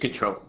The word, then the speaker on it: CTRL: So the first one is, I don't know how to pronounce this, if it's CTRL or Control. It's just Control.